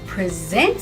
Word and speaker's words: present: But to present something, to give something, is a verb. Present, present. Same word, different stress, different meaning.